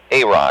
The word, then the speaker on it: Iraq: is the difference between is it air Rock how do you pronounce the name Iraq Iraq that's my name backwards without the S I got it how